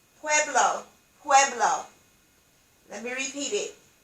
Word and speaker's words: Pueblo: around the family drum pueblo pueblo indians is pronounced pueblo pueblo pueblo let me repeat it pueblo indians that's